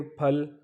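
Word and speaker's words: 팔: फिर आप 80 पे आ जाएं तो 80 में देखें फल, फल मतलब 8 को हम कहते हैं, यहाँ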